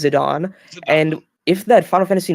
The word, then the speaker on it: Zidane: started the game I called him zidane but in De cidia he's called zidan zidan okay so because I always thought it was yeah that was not the case yeah I think the canonical pronunciation is zidon and if that Final